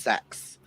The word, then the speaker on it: Xhex: Her name is pronounced Sex.